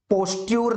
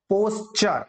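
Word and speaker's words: posture: पहले तो इसका प्रोनाउंसिएशन ध्यान से, पोस्चर, पोस्ट्यूर नहीं है, ठीक है, पोस्चर।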